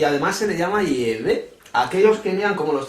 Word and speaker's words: Yahvé: El Padre tiene un nombre personal, que parece ser que la pronunciación es Yahvé, no Jehová es un nombre falso.